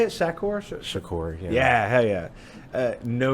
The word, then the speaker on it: Shakur: Shakur, yeah.